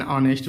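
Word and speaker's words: honest: कह रहा है कि जिन शब्दों में एच साइलेंट रहता है उनके पहले भी ए का प्रयोग करते हैं। मतलब एच तो होता है लेकिन ए साइलेंट होता है, इसको नहीं बोलते। An hour, an ऑनेस्ट मैन, N honourable man, एन एयर, यानी सब में क्या है प्यारे बच्चों? एच साइलेंट है, इसलिए हम क्या करेंगे?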